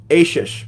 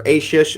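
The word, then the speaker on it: Achsah: ases his wife and I'm I'm not even pronouncing it consistently am I asish that's what that's my final answer asish and if I say something else you can call me wrong on it um and he gave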